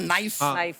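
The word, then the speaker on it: knife: जाए सरमा जी आपको नाइफ word मालूम है नाइफ उसमें शुरुआत में जो के होता है वो क्या है साइलेंट आप भी रहिए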